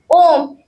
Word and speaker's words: ओम: ओम का उच्चारण तीन भागों में होता है। अ उ और म अ सृष्टि का आरंभ है।